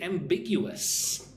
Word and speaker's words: ambiguous: Number two, ambiguous. Say that with me. Am-big-u-ous. So, it's got four syllables. Ambiguous, put the stress on the second syllable, one, two. Big.